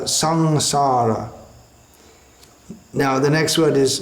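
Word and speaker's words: saṃsāra: Generally it's pronounced as a something like the N in the word sing in English. So it's not samsara, sangsara.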